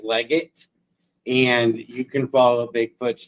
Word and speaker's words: Leggett: It's not legit. No, we don't. It's spelled like legit, but it's not legit. It's Leggett, and you can follow Bigfoot's tracks from there.